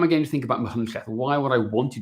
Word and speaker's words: Machynlleth: It's Machynlleth. It's a Welsh name, right?